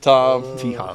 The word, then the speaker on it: Thom: like am I have I been saying your name wrong so I was like th this entire time no it's just Tom that's good yeah there was like a pro